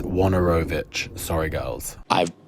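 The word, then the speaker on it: Wojnarowicz: Pete Hajar and also David W wasaknarakis. It's Wanorovich.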